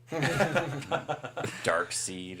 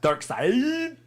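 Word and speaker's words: Darkseid: Dark Seed or whatever. Dark side. Dark Side is. Why do they spell it SEID?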